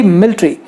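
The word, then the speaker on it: military: Okay, वैसे ही मिलिट्री, अभी लोग मिलिट्री कहते हैं इंडिया में, लेकिन मिलिट्री नाम का शब्द ही नहीं है।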